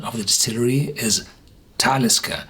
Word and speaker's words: Talisker: of the distillery is talisker you pronounce this on the first syllable why because it's a